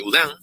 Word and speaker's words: Oudin: Entonces hay algunos métodos, por ejemplo el método de Udin, que se escribe Oudin, que propone una modificación del método de Hargreaves-Samani.